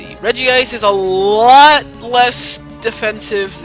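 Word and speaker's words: Regice: ridiculous but whatever this is reggie ice is i think how the anime pronounces it at least even though it's not really spelled that way anyway reggie ice is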